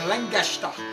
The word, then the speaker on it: Lancaster: new york all right lancaster pa langeshta is how the amish say it right hello from maryland